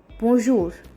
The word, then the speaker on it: bonjour: So the first one, and comparatively the most important one, would be the word bonjour, which is nothing but hello or hi in French. Listen to the pronunciation very clearly.